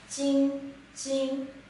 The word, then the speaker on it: 金: character is pronounced as Jing Jing, and it basically refers to gold.